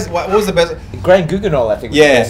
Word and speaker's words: Grand Guignol: Grand Guignol, I think. was Yeah, the best. Grand It's Guignol. Grand Guignol.